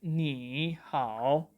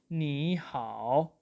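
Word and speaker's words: 你好: Okay, so we will not pronounce it like ni hao, but we will pronounce it like ni hao, ni hao.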